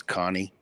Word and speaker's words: Cane: Italian Mastiff um so and it's actually not pronounced Kane it's Connie but everybody calls it Kane and um I